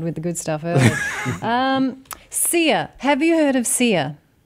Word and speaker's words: Sia: S-I-A. S-I-A. Oh, yeah. You'd think it would be pronounced Sia, but it's actually Sia. Sia Furler.